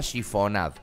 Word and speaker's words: chiffonade: Ese corte se llama chifonade. Se escribe chiffonade.